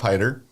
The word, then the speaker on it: Haidider: It's usually hater. People call me hater. I'm used to being haters.